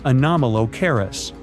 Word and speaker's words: Anomalocaris: The name is a bit tricky to pronounce, so I'm not going to. Okay, it's Anomalocaris, but it just literally means unusual shrimp.